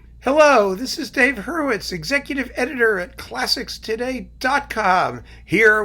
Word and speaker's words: Hurwitz: My last name is Hurwitz. H-U-R-W-I-T-Z. Hurwitz.